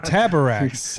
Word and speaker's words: Taborax: I just had you read the first word so that I knew how to pronounce it. Taborax.